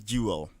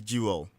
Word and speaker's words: Jewell: My name is Juel. So you realize Jewel is spelled J E W E L L.